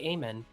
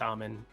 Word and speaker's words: Amen: Now, they do get the other Thompson twin, Amen. Very easy to remember that one because, you know, or I guess some people would probably say Amen. But it's Amen.